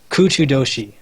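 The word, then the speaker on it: 空中都市: quick okay um I know all about it kuchu Doshi which is how you say the floating city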